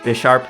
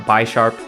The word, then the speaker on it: Bisharp: in a comment that it's actually pronounced Bisharp not bharp see that would be